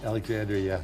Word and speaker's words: Alexandria: Alexandria, yeah.